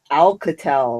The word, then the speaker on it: Alcatel: No, it's like Alcatel. It's not that old. I know what you're talking about. It's not that old. Alcatel's Obama phone. Yeah, it's an Altel.